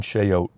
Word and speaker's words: chayote: It's not spelled like oats. The little brown things. Chayote. Instead of O A T, it's O T E.